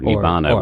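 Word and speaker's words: nibbāna: Pseudo nirvana or nibbana would be the poly pronunciation.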